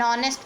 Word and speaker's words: honest: with the words if the word is starting with H and the H sound is silent in the word, like an honest man, an R, an honorable president, etc.